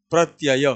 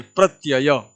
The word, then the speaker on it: प्रत्यय: करने जा रहे हैं प्रत्यय क्या उच्चारण है प्रत्यय कुछ बच्चे पता नहीं प्रत्य प्रत्य बोलते हैं ऐसा नहीं है प्रत्यय प्रत्यय यह हम करने जा